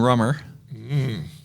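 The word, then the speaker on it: Rumber: We're going to serve a rum drink that Kayla named Rum and Rummer. And I decided we're going to spell it with a B, like R-U-M-B, R-U-M-B-E-R, Rum and Rummer.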